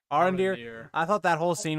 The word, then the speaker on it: Arondir: Arondir. Arondir.